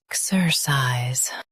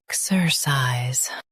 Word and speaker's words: exercise: Exercise. Stress EK and keep sir light.